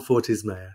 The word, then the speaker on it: Fortes Mayer: say it again if I got the last name wrong uh it's by it's fordy's mayor you did a good job and I'm really